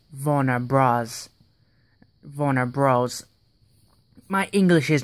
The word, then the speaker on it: Warner Bros.: It's not Warner Brothers, it's Warner Bros.